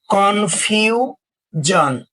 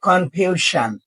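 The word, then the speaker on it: confusion: আমি আবার বলছি এস আই ও এন এর পূর্বে ভাওয়েল সাউন্ড থাকলে এস আই ও এন এর উচ্চারণ জন হয় সন বা সান হবে না আমরা উদাহরণ লক্ষ্য করব কনফিউজন নট কনফিউশন তাহলে কি হবে কনফিউজন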